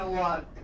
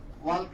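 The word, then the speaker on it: walk: मेरे टीचर बोले हैं, हम खाली पढ़ लिए हैं वाक। वाल्क नहीं पढ़ेंगे, लेकिन पूछा जाए कि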